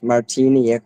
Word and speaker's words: Martiniak: He is Polish, but his last name is Martiniak, like Marty, Marty.